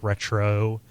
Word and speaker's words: Retreaux: It doesn't trade on kind of the easy stuff that a bunch of retro, and that's spelled RETREAUX, faux retro games, kind of do.